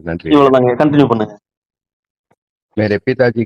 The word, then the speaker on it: पिताजी: அதே மாதிரிங்கய்யா, எப்படி மேக்கு வந்து நான் சொல்லும் பொழுது மே சொன்னா போதும், இன்னும் வந்து அழுத்தக்கூடாதுன்னு சொன்னனும். அதே மாதிரி சொல்றதுக்கும் சொல்றதுக்கும் கடைசீட்ல வர்ற இன்னையும் அரை மாத்திரையில தான் உச்சரிக்கணும். பூன்னு ஹைன்னு பூன்னு இப்படின்னு அழுத்தக்கூடாது. இன்னும் அரை மாத்திரையில சொன்னா போதுங்க.